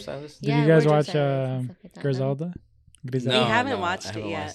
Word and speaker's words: Griselda: Did you guys watch Griselda? We haven't watched it yet. Did I say it right? I said it like the rap group, but I should say it more Hispanic. Griselda.